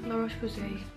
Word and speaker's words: La Roche-Posay: La Roche-Posay, Avine. It rhymes, it's all French.